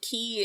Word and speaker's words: quay: I didn't know that key in reference to a place is spelled differently in Britain cuz it's spelled cutters quay.